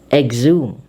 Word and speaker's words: exhume: And the third part of our pronunciation of X is when EX is followed by H. H is silent. It is dropped. Therefore, we say exhaust, exhaust, exhale, exhibit, exhilarate, exhume.